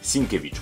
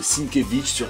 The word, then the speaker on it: Sienkiewicz: pas prononcer son nom c'est bill sinkiewicz sinkewitz voilà c'est tout simple du coup vous pourrez dire ouais j'ai adoré le taf de sinkewitz elektra quoi c'est super